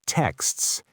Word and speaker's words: texts: Words like texts. T E X T S. That's a K, an S, a T, and an S.